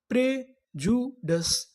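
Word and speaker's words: prejudice: आपको बता दूं कि यहां पर जो आई है ये साइलेंट है हमें यहां पर आई का उच्चारण नहीं करना तो पूरी मीनिंग क्या बनी प्रजुडस प्रजुडस प्रजुडस प्रजुडस का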